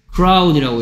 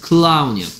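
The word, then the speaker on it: clown: 클라운이라고 해. 클라운. 크라운이라고 읽으면 안 돼. 크라운은 왕관이야. 크라운이 아니고 클라운이야. 클라운.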